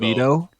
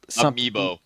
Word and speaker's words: Amiibo: I think if they took the Nintendo Labo, whatever they pronounced it as, label. if they took Libido? Amiibo.